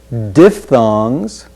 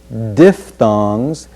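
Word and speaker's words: diphthongs: the next word is defthongs diffongs that ph is pronounced as if it were f defthongs then we'll pronounce giblets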